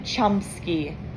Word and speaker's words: Chumsky: them yes on calvin chumsky so like chum and then it's spelled sky the bell rings i tell